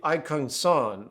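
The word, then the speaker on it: !Kung San: The Aikung San of Southern Africa, and I know I'm saying that wrong, it's spelled exclamation part K-U-N-G space S-A-N, they are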